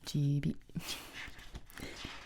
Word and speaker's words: Gibi: It's pronounced Gibi.